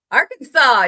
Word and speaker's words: Arkansas: Per the state code, the only acceptable pronunciation is the 3 syllables with the final S silent and the A in each syllable with the Italian sound and the accent on the first and last syllables.